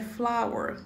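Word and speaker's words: flour: farinha de trigo é flower se pronuncia que nem for mesmo mas se escreve diferente tá flower leite é meu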